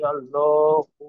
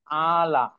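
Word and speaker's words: الأعلى: জি, সুবহানা রব্বিয়াল আলা। হায়ের টান তো বাদ পড়ে গেল। সুবহান। সুবহানা রব্বিয়াল আলা। হুম, এখানে আলা, এভাবে আইনের মাখরাজে।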